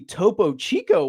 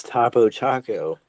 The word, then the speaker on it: Topo Chico: Oh, that wouldn't happen to be Topo Chico, would it? The official honest fish. Oh So that's how you pronounce it. I thought it was Tapo Taco.